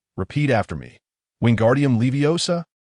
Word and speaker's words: Wingardium Leviosa: Wingardium leviosa. Pay attention to the pronunciation of O. It needs to be slightly elongated.